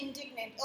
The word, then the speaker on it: indignant: Okay, this is इंडिग्नेंट, the correct pronunciation is इंडिग्नेंट.